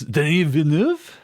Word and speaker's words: Denis Villeneuve: i'm sorry who uh i believe it's denis venue okay that's how you pronounce it okay that's not